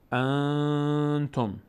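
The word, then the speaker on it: أنتم: مرونه نه حرف باز نون اینجا از بینی ادا میشه چطوری ان ان ان ان ان الان زبان من هیچ نقشی نداره در تلفظ این صدا از بینی میاد ان مقداری نگه می‌داریم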